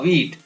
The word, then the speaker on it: wheat: Next है ईट, WHEAT, WE यानी व ई अ ट, वीट, यहाँ पर H साइलेंट हो गया।